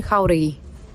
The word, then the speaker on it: Jauregui: My name is Jauregui. My name is Jauregui. Yeah, we're just emphasizing that first syllable, Cam Flo.